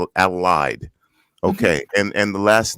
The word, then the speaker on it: Adelheid: your name correctly it's adolide the h is silent the h is silent allied okay and and the